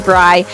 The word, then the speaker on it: Bri: it but first hi my name is briy it rhymes with Sky if you're ever wondering